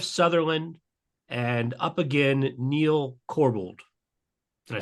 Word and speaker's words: Corbould: And the nominated team is Alex Woodka, Simone Coco, Jeff Sutherland, and up again, Neil Corbould.